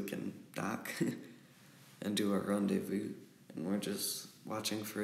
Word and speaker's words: rendezvous: are rendezvous you know it's about like Brenda's house I wonder why but it's pronounced rendezvous and then we're gonna